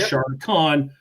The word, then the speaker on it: Shardicon: So it was Shardicon, spelled like Charlotte, not shart in your pants.